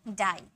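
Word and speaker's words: die: number six है हमारा जब किसी वर्ड के लास्ट में आई ई आए तो आई ई को आई में पढ़ते हैं आई में ठीक है आई ई को किस में पढ़ते हैं आई में पढ़ते हैं जैसे कि डाई आई ई है ना इसको किसम पढ़े ई आई में पढ़े डाई लाई पाई टाई आई में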